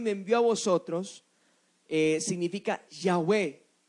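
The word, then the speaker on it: Yahweh: envió a vosotros significa yagüe yagüe es la traducción o la forma antigua hebrea en la cual se pronunciaba el nombre de dios pero qué sucedió con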